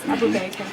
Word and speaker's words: Abu: Independent Media Abu yes Abu abua s it's it's pronounced as it's spelled that's the easiest okay